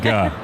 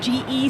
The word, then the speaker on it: Ge: Ge. I think a few times in the past, you know, it's pronounced G-E, so a lot of people say Ge. It's Ge.